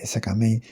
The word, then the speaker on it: Skmei: May e que en realidad la MEI de SK Mei eh se se diría como May y bueno, también es que hay varias formas de de decirlo.